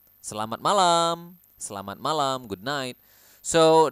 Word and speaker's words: malam: we have Selamat malam you need to pronounce The M here clearly selamat malam selamat malam selamat malam good night